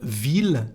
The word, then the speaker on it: ville: But we have some exceptions like the word ville, town, city, and the number thousand, mille.